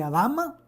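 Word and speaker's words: אדמה: fue creado el hombre esa palabra se pronuncia como a la dama se produce cómo se pronuncia como alhama y adama de significado drama es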